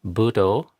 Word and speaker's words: Buddho: example we have here, the first syllable of Buddho gets 1 unit of time. The second do gets a second because it's aspirated, not because it's aspirated, D, but because it has a long O.